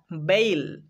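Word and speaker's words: bale: দেখতে পাচ্ছি ই, তাহলে এখানে বি এ এর উচ্চারণ করব বেই, আর এল ই ল, বেইল, মানে গাদা ভর্তি মালপত্র।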